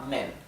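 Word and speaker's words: 们: para los plurales simplemente se le agrega la sílaba men sí sin tono Entonces yo es nosotros o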